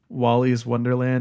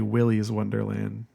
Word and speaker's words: Wily's Wonderland: I also forgot something I mispronounced it um Wally's Wonderland it's actually Wily's Wonderland so there's that oh